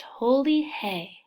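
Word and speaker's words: Holi Hai: powders on each other people chant holy hi which is pronounced holy hay and it means it's holy traditionally the powders were made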